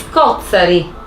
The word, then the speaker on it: scozzari: si è quindi affidata scòzzari scorsa che la variante palermitana con accento griffato sulla terzultima di scozzari che plurale di scozzaro